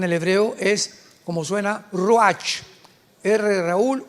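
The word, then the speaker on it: רוח: Apunta la palabra espíritu en el hebreo es como suena roach. Raúl u a c h. Pero la ch en el hebreo se pronuncia como j. Roaj.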